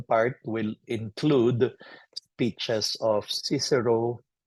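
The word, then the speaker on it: Cicero: will include speeches of cisero chichero if you want to pronounce it hardly to Latin or the poems of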